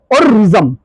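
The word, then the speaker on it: worrisome: দেখো, অররিজম, উচ্চারণটা হচ্ছে অররিজম।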